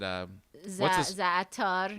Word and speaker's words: za'atar: Za'atar. Za'atar, yeah. Yeah. How do you pronounce it?